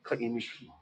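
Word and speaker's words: Kaimukī: Kai Imuki? That's not right. yes, that's how you say it. That's how you say it? Kai Imuki.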